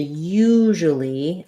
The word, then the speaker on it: usually: that out too usually so for usually thinking about that as u we have the voiced z h sound the j it's like the sh but my voice is on usually so i can